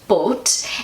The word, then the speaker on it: Boot: and in German but it's pronounced short but and it actually means